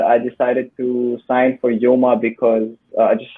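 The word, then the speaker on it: Joma: think you love your juma sports is that red yeah right mama actually how do you pronounce it we just say yoma oh yeah actually i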